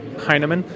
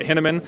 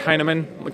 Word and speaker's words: Hinaman: it's it's also pronounced a lot of people pronounce it henneman and that's incorrect it's uh heinemann kind of like hey man are you high yeah nah man i